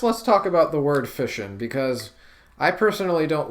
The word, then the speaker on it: fission: pronounced fishin it's because it sounds like words such as mission and passion so I can see